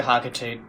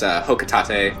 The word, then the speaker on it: Hocotate: I say Hocotate, because I think it rhymes with freight. Sounds good. Like, the official pronunciation is Hocotate, but, you know.